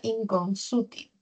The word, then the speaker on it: inconsútil: Inconsútil. La mayor fuerza de voz está en la sílaba su.